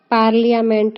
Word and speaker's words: parliament: पार्लियामेंट में are silent रहता है, इसलिए इसे शुद्ध पार्लियामेंट बोलते हैं।